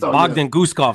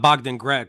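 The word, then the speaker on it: Bogdan Guskov: It's Bogdan Gustaf, not Bogdan Greg.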